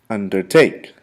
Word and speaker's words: undertake: three syllables under take undertake once more undertake the emphasis or the accent is played on placed on the third syllable not the second the